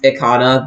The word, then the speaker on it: Ikana: I think it's just his tag is literally Icon and then mine's Ikana. But I don't know, like the head TO in our region is so adamant on pronouncing it Icona.